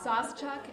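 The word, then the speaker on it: Sauschuck: And she might actually know how to pronounce it better than I. Saucechuck, S-A-U-S-C-H-U-C-K.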